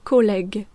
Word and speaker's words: collègue: Le son je donc collège devient. Collègue quand on rajoute un U entre G et E.